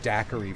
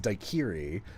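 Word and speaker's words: daiquiri: And it's just like, yeah, uniquely it's pronounced daquiri for some reason. I'm like, no, no, I'm not the one who looks like an idiot here. That word should be pronounced daikiri.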